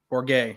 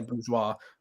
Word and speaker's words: Bourguet: Bourguet. I was going to say bourgeois, not the bourgeoisie.